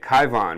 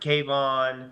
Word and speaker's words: Kyvon: So that's how I say it, Kyvon. We don't always hear how it's said. We read the paper. Yeah, Kyvon. Okay. I've heard Kayvon.